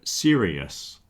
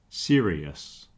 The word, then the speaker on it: serious: There's another word, serious, serious. Okay, it's got an extra syllable in the second part.